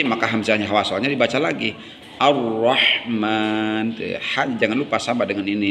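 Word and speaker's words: الرحمن: Ar-Rahman. Jangan lupa sama dengan ini nih. Tuh. Man dibacanya panjang, ada 4 alif mad tabii sebutnya.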